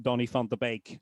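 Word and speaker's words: Donny van de Beek: So, um, yeah, I did see one person asking me why I why I was pronouncing Donnie Font the bake wrongly and again it it after a while it sort of washes over you to begin with.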